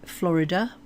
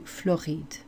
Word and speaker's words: Floride: Surrey's the same, and then whereas we would say Florida, or the Americans would say Florida, they change it to Floride.